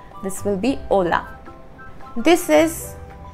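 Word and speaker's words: hola: this is a the H is always silent in Spanish a a and the example with h is Ola Ola we don't pronounce the exact sound of H this will be Ola this is e this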